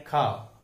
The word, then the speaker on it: car: हम उसे CAR कार बोलते हैं, लेकिन उसका उच्चारण है खा।